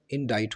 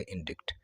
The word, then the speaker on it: indict: बहरहाल 2 साल पहले मैंने एक वीडियो बनाई थी जिसमें बताया था कि इसमें ये सी साइलेंट होता है और इसका सही प्रोनाउंसिएशन इंडाइट होता है, ना कि इंडिक्ट।